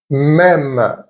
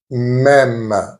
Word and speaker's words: même: Même, even or same. Même. As you can hear, the pronunciation is the same as the E with an accent grave.